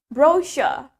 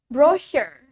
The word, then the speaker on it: brochure: Brochure.